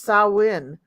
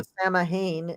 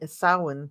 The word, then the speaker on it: Samhain: it makes sense in the way that it's pronounced sawin not you know sah Hayne sawin yeah yeah and Connie B Connie B black